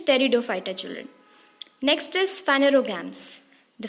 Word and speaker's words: Pteridophyta: The pronunciation is Pteridophyta, children.